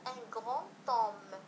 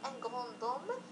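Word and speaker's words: un grand homme: لاحظوا ان غران توم ان غران توم، لم نقل ان غران دوم وانما ان غران توم. اذا لو دي ينطق تي هنا فقط اشاره، ان غران توم نقصد بها رجل عظيم.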